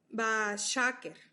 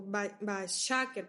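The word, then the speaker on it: בַּשֶּׁקֶר: que hacen en hebreo es Bashaker, o Bashaker, porque lleva acento en la A, ¿no? Se escribe se escribe B-A-S-H-A, acento en la A, Ker, con Q.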